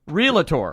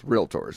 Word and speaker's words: Realtor: I run into a a realtor who says realator yes I'm like you are one and you're not even saying it right well like I say Trend maker is not a dread maker is not a bador and we are not Realtors it's Realtors just two syllables don't don't don't over